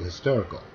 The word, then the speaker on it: hysterical: 두 번째 예를 들면 hysterical 라고 읽어야지 hysterical 라고 읽는다거나 hysterical 라고 읽는다 그렇게 하면 안 되죠.